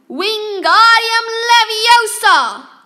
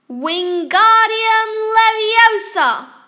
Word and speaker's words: Wingardium Leviosa: the next table wasn't having much more luck wingardium leviosa waving his long arms like a windmill you're saying it wrong harry heard hermione snap it's wingardium leviosa make the gut nice and long you do